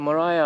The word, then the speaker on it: Maria: Tasmania don't miss out Mariah Island do not pronounce it Maria it's Mariah like Mariah kry uh